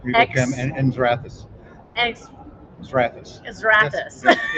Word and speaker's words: Xrathus: Xrathus.